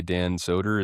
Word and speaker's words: Dan Soder: Dan Soder.